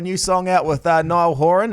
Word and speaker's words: Niall Horan: it even happened but you got his name wrong i just want to play that audio right now collaboration with nile haran okay i don't know how do you say niall horan is that it yeah well i've been saying it was a french accent this whole time okay so how did